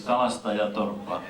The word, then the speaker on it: Kalastajatorppa: you very well know in Finland, that is Kalastajatorppa, or Kaljastajatorppa as you pronounce it.